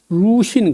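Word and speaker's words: 魯迅: 하면요 진독수라 진독수 진독수를 이제 중국 이름은 중국 발음은 턴두슈 그다음에 노신이라는 사람인데 루신 그래요.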